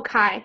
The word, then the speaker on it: Kai: Oh, Kai. Yeah. Okay. Sorry. Evelyn uses God. Oh, I love that name. Rhymes with pie.